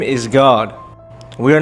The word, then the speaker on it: Gad: next to it, G-A-D, God. The same way it's pronounced in Enoch, with that little vowel point above the A.